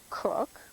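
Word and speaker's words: Koch: I'm Cook, spelled K-O-C-H, but pronounced Cook.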